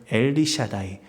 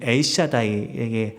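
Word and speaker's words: אל שדי: 사랑하는 기도자 여러분, 여기 이삭이 야곱에게 축복하며 붙들라고 하는 전능하신 하나님이라는 이 말을 원어로 살펴보게 되면 이 단어는 엘리샤다이, 또 다른 발음으로는 엘샤다이의 하나님인데요.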